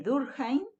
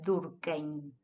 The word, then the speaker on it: Durkheim: de la sociología: Emily Durkheim, Karl Marx y Max Weber, ¿sí? No es Durkheim, es Durkheim, ¿sí?